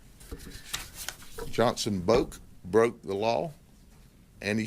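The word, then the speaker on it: Boek: Boak, B-O-E-K. That's Polk County pronunciation. All right. So I'm gonna go with that is subject to modification by someone who may have a different interpretation being the family, but we call him Boak.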